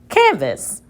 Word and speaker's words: canvas: Let's try it with the schwa. Canvas. Canvas. That makes sense, and these are both closed syllables.